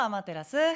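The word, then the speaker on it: アマテラス: but not before Uncle Dreamy clarifies how to pronounce the Shinto goddess of the sun's name. おはよう、アマテラス。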